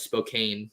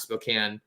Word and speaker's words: Spokane: for the longest time i thought it was spokane not spokane so um yeah he did himself some favors